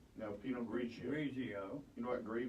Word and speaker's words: Pinot Grigio: And you give it to me to see if I can pronounce Riesling and... Riesling. There you go. Cabernet Sauvignon. Was that close? Pinot Grigio? No, Pinot Grigio.